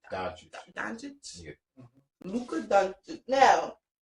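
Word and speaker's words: Dončić: How you pronounce Luka's last name? Doncic.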